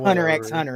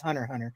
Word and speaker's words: Hunter x Hunter: just be 1,00 resist because you never pronounce the X in uh anime titles it's not Hunter x Hunter it's Hunter Hunter um but uh no